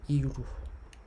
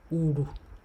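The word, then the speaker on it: ìrù: The mainstream Yoruba will say iru, iri-u. That's the mainstream Yoruba. But my dialect will say uru, uru, tail, uru, tail.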